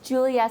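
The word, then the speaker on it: Giulia: Today we have this beautiful young lady, and her name is Julia, spelled with a G.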